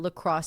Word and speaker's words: La Crosse: It's spelled l a as one word, and then c r o s s e. La Crosse say.